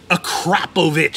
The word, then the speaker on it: Akrapovic: but we put on an akrapovic acropovich is how you pronounce it in my other parts